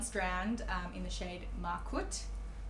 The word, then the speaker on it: Markut: strand, in the shade Markut. I don't know how to say it. I just say Markut. I think that's right. M-A-R-K-U-T.